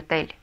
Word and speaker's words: hotel: «El hotel». Угу. Ударение ставить не нужно. Эли это согласное, значит ударение и так падает на последний слог.